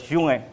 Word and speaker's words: Junge: In 2016, Pope Francis and Reverend Martin, it's pronounced as Junge, General Secretary of the Lutheran World Federation, embraced on October 31, 1516.